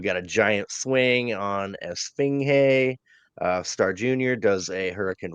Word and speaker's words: Esfinge: Esfinge. I was saying it, but I forgot the G is silent in Spanish, so it's Esfinge.